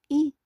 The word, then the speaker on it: et: Commençons alors par le ET, que se prononce E, est une conjugation de coordination.